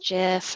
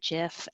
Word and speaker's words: GIF: alright the phrase is I know it's pronounced jiff I know Alexis Ohanian made it and he pronounces it jiff but I say guess